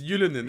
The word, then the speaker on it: Ylönen: So, You mean when Ylönen? Just say his name. It's Ylönen, and he actually had a good name.